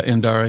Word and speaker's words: Indara: Yeah, Indara, yeah.